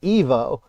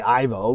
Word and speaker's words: Ivo: that because she says it sounds like Evo which is not how you know he his name is really supposed to be pronounced I've called him Evo a million times uh lots of people have it's supposed to be Ivo but like um the